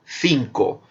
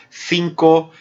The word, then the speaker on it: cinco: A letra C e a letra Z, na Espanha, ela é pronunciada como interdental. Eu digo cinco. Vocês já devem ter percebido que muitas vezes, quando eu pronuncio cinco, cerro, eu pronuncio com os dentes, a língua entre os dentes. É o interdental, como na Espanha.